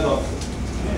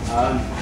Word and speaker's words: Dutta: this is our Bengali pronunciation, is Datta, not Datta.